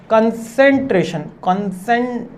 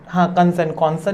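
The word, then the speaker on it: concentration: कंसेंट्रेशन, कॉन्सन नहीं बोला जाएगा इसको, कंसेंट्रेशन स्ट्रेटजीज है ना।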